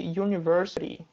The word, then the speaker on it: university: Só que university não tem o som de uma vogal aqui, ó. You, não tem, ele tem o som de uma semivogal, que é o Y, né?